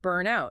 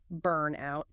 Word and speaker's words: burnout: For pronunciation, burnout. You stress the burn, burnout.